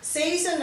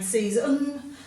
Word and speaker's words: season: the end even though we don't pronounce it as on we tend to give it a schwa sound so we're going season but if you pronounce